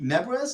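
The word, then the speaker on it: Nebres: book of no uh it's hellboy by rudy nebras is that how you pronounce his last name yes okay uh it's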